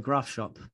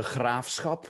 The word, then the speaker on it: Graafschap: The Graafschap. So quite unique. It's pronounced in Dutch, the Graafschap, which is very difficult.